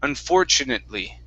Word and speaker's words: unfortunately: okay all right now this t u right here pronounce a c h unfortu unfortunately unfortunately that's it okay